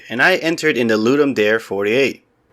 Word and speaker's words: Ludum Dare: Hello everybody, I entered in the Ludum Dare 48. It's pronounced Ludum Dare, not Ludum Dare.